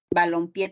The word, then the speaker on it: balompié: Entonces yo sé que sinfín es como una aguda, balompié también es como una aguda, y decimoséptimo es como una esdrújula.